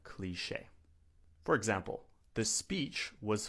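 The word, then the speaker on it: cliché: But for those of you who do not speak French, we pronounce it cliche. Not cliche, but cliche.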